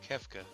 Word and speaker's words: Kefka: Is it Kefka? Is that how you say his name? No, Kefka.